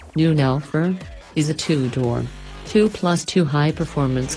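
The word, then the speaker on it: neunelf: the Porsche 911 pronounced 911 or German noon Elford is a 2-door 2+2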